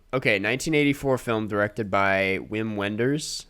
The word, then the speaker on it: Wim Wenders: 1984 film directed by wim wenders i think it might be vim vendors that's very alliterative regardless yeah i've heard different pronunciations um and the synopsis